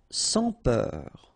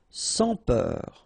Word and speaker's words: sans peur: Sans peur. Okay, pronounce the final R, E-U-R, heure, peur. Sans peur. Don't pronounce the final S here.